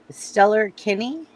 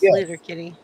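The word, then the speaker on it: Sleater-Kinney: Stellar Kinney? Sleater King. Yeah. Yeah, that way, Caldy. That's how you say it. Sleater Kinney.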